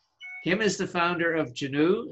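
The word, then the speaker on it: Genoo: experience with us kim is the founder of juno spelled g-e-n-o-o kim did i pronounce that right you did ah good kim is the founder of genu spelled geno and the b2b online marketing group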